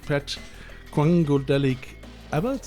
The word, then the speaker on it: Pat Quangodelic Allott: in this show again after ages, together with Pat Quangodelic Allott, is it right? Yes, you got the pronunciation right.